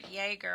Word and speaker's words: Jagger: Well, why don't we get to uh Jessica Jagger? I asked her if I was pronouncing it right. Said is it like Jagger Meister? The one and only.